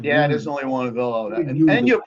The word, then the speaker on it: Avillo: there's only one Avillo, and you're pronouncing it properly, which is after 25 years.